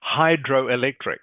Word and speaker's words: hydroelectric: uh no okay just careful of your pronunciation of this one it is hydroelectric can you say that